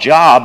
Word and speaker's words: Job: know the story of Job. You thought that maybe the book was called Job as you looked through the table of contents, but it actually is pronounced Job.